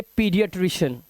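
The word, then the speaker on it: pediatrician: अब यहां देखिए ए ई है तो इसे ना पेई नहीं पढ़ेंगे, पेई, इसे पढ़ेंगे पीडियाट्रिशियन। पीडियाट्रिशियन, तो यहां पर ई की आवाज आ रही है, पीडियाट्रिशियन। तो यहां पर हमने देखा ए ई का जो मुख्य उच्चारण होता है वो ई होता है।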